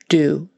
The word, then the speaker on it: do: Make that a good, strong, long U. Do, rather than duh.